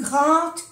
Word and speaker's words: grande: Léa est plus grande que Marie. Grande, ya sabemos que no se pronuncia la E, final.